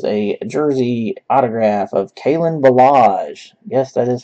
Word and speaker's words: Ballage: And our hit is a jersey autograph of Kalen Ballage. Yes, that is how you pronounce his last name.